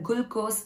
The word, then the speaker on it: glucose: So nama nariya pere glucose glucose appadina solrom. Gul kadaiyadu glue. Glucose. So idukana example, glucose is sweet. Glucose is sweet. So, glucose is sweet, apadina glucose inippa irukum apadina artham. And rendavathu example, glucose provides instant energy. Glucose provides instant energy. So, adoda artham enna apadina, glucose vandu tappana romba seekrama namalukku energy tharum apadina artham.